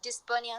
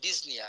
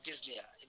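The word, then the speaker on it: dyspnea: ডিসপনিয়া, আপনার tachycardia, তো আচ্ছা, ডিজনিয়া আপনারা না এই উচ্চারণটা sorry this is ডিজনিয়া, this ডিজনিয়া আপনারা সাউথ ইন্ডিয়ান উচ্চারণ থেকে বেরোন, হ্যাঁ, this is ডিজনিয়া, okay, P should not বি আটার্ড।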